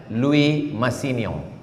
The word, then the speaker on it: Louis Massignon: Pembimbingnya, promotornya namanya, tulisannya Louis Massignon, cara membacanya Louis Massignon, karena tulisan Prancis lain tulisan, lain bacaan.